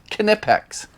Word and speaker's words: Knipex: debatable I've been saying it right all along knipex I'll put a link down in the description